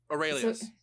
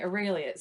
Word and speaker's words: Aurelius: Aurelius. Okay, Aurelius. So that looks a lot like anus at the end, and I was really hoping that wasn't, because that would be awful. So Ambrosius Aurelius.